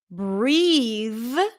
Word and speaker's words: breathe: that is to breathe the e at the end suggests that actually the the vowel before is a tense e sound breathe but also notice that